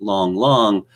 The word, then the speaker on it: Lang Lang: fan these days you might think that say long long yes I know his name is spelled Lang Lang but that's the opinion for you it's pronounced long long is the greatest wet figure in the the